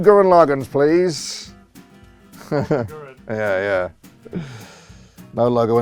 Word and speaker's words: Gurren Lagann: Gurren Lagann. Gurren Lagann. Sounds like a Danish beer. I was going to say it sounds like a beer. I'll have 2 Gurren Laganns, please.